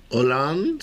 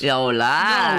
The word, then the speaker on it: Hollande: Starts with an H, unpronounced. And it's the same name as same name as a country. Hollande? Hollande.